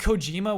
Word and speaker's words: Kojima: Kojima. Right. Stress all. Stress everything. Yeah, stress all 3 syllables.